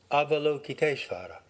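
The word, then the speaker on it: Avalokiteśvara: would be an approximate american english pronunciation avalokitesvara the name combines the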